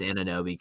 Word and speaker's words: Anunoby: Anunoby. People don't like how I'm pronouncing names out here. I was about to call you out for it, but I was like, I'm just gonna. I know it's Anunoby.